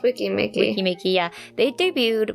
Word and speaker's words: Weki Meki: No, it's Wiki Mickey.